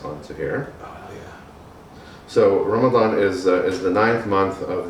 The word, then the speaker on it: Ramadan: Ramadan. Ramadan.